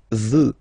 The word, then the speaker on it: veux: Vouloir, first person, je veux. Final X not pronounced. Je veux.